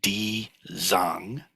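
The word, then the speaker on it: 地藏: And this is the Chinese, so Jijang, or it's in Mandarin Chinese, it's pronounced something more like Di Zang, but I cannot pronounce Mandarin, so don't quote me on that.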